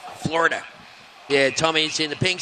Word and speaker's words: Florida: You've got to say it like floor with a double O. That way you sound like a Floridian when that's how they speak. Florida.